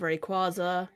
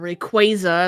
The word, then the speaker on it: Rayquaza: you know, so we've obviously started with Rayquaza or Rayquaza as I believe the official pronunciation is. Uh, but I always say Rayquaza.